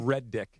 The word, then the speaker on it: Redick: people spell it with, they misspell it and spell it with 2 That would be D's. Red Dick.